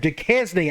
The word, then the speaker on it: Duquesne: not least, Hawaii and Duquesne. I think that's how you say it, not Duquesne, although I think that sounds a little bit better.